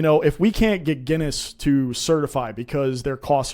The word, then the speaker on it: Guinness: So now I know that it's pronounced Guinness.